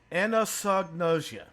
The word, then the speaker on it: anosognosia: It starts with an A, but it's pronounced with an eh sound. Okay. Anosognosia.